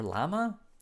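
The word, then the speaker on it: Llama: Lala Yama, or Lama? I say Yama because it's how you say it in Spanish.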